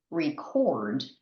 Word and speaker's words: record: But when we use this word as a verb, the intonation is different. It's to record. So the emphasis or the stress is on the first syllable in the verb.